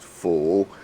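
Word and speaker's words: 福: character uh for blessings which in Chinese is pronounced full okay very often what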